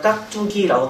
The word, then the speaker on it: 깍두기: 받침에 있는 기역하고 뒤에 있는 디귿, 초성에 있는 디귿하고 결합했을 때 어떤 소리 납니까? 된소리 발음 바뀌었습니다. 경험한 현상이라고 배웠죠. 경험한 현상이 일어나면서 발음은 둘 다, 표기는 이렇게 써 있겠지만 둘 다 깍두기라고 발음해 주는 건 맞습니다.